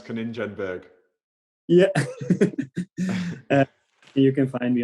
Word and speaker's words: Konijnenberg: my last name conan in english i will probably pronounce it like coningenberg that's how i would say i i would say kaninjenberg yeah you can find